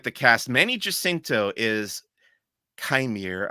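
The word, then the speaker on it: Qimir: Continuing with the cast, Manny Jacinto is Chimere, I believe is how it's pronounced, or is how May pronounces it.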